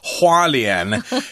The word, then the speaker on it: Hualien: but I realized that that's taiwanese accent charleon hualien is how it's supposed to be pronounced but we'll talk about wonderful scenic and